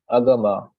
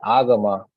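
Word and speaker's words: āgama: Also, if A has this symbol on the top, so what it means is basically you have to pronounce it not as A but A. So just like here, I read it as agama, not agama, right? It's agama.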